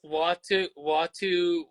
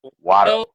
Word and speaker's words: Watto: because like it's like Watu. How do you say it? Watto? Watto, Watto.